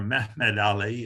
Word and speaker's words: Muhammad Ali: their long egyptian rivalry muhammad ali or mahmud ali if you prefer the turkish pronunciation and his descendants won